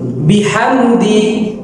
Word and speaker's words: بحمد: বিহামদি বিহামদি বিহামদি এইভাবে করে আপনি 10 বার বলুন। এই শব্দের উচ্চারণ হচ্ছে বিহামদি বিহামদি বিহামদি। এই শব্দের অর্থ হচ্ছে প্রশংসার সাথে। শব্দটি আমার সাথে সাথে বলুন। বিহামদি বিহামদি বিহামদি এই শব্দের অর্থ হচ্ছে প্রশংসার সাথে।